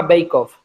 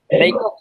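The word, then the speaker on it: Beckhoff: Yo, si queréis apuntar uno, estoy viendo cosas muy interesantes, una empresa alemana que se llama Beikhoff, que vende unas cabeceras muy interesantes y con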